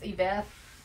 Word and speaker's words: Yvette: I think she said that's how you pronounce her name is Yvette.